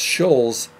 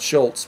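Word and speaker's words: Schulz: i think it's spelled it's shulls not schultz but scholes s-c-h-u-l-z i think it is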